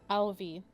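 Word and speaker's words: Ailbhe: and this is who that we're talking about Alvi how do you spell that Al a i l b h e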